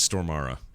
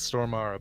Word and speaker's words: Stormare: stormare --is mom and he corrected us on the pronunciation of his name peter stormare so it is store mara then its store mara but it's probably it's